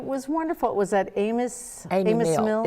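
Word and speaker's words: Amis: It was at Amos Mill. It's pronounced Amy. It's Okay. A-M-I-S, but it's pronounced Amy Mill.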